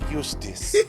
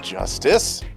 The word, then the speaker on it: Justice: Apollo Eustice. It's justice.